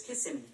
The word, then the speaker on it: Kissimmee: do you pronounce that kissimmee florida which normally is kiss me which is normally okay here's kissimmee thanks siri that's creepy oh